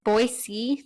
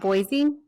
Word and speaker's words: Boise: It's Boise, not Boise. I think it's with a snake, like Boise. like a zebra sound.